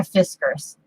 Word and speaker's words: Fiskars: I got a Fiskars. I have better luck with the, Fiskars. You have to say Fiskar.